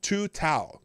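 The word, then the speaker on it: Tou Thao: It's Tu Tao. That's how his name is pronounced.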